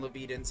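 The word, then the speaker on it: Levitan: I thought it was Sounds like Leviathan for the longest time, and then I realized there's no H or I or A or N.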